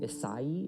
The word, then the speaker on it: Isai: Isai is how you would pronounce that, but it's just, Isaiah is just kind of what he's called, and it sounds like it's this thing that it's not.